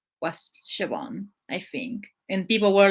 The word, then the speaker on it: Siobhan: unless you know gaelic or have heard it pronounced before like like the it's s-i-o-p-h-a-n so and that's siobhan yeah siobhan yeah yeah at that one i left that